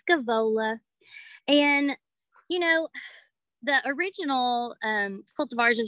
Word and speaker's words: Scaevola: I said it wrong for years. I like to enunciate every single letter. I was calling it Scaviola, but it's Scaevola.